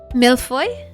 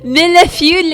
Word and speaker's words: millefeuille: Millefeuille? I don't know, I guess American people just say millefeuille and it sounds dumb as fuck, but it's millefeuille. I like millefeuille. So good. Strawberry millefeuille.